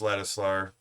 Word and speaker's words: Ladisla: So, there, Prince Ladislar, I actually said his name right.